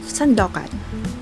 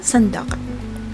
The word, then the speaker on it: Sandokan: And today's Chismis, we are going to talk about Sandokan. Yes, Sandokan. Alright, hindi siya Sandok ha, Sandokan. Sandokan talaga yung title niya.